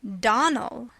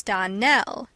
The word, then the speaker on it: Donnell: "Clarice Almira told me that you pronounced our name Donnell. Now, Miss Shirley, the correct pronunciation of our name is Donnell. Accent on the last syllable.